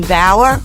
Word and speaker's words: Baur: And I'm so excited today because I have a special guest, Baur, rhymes with flower.